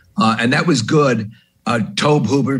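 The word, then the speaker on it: Tobe Hooper: that was good uh tobe hoover toby hoover already you know the pronunciation's always up in the air but toby hoover right directed it that mini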